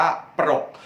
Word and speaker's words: ปรก: น่า จีบ ปรก หน้า ปรก ปอ ปลา รอ เรือ กอ ไก่ อ่าน ว่า ปรก ปรก ก็ คือ การ มา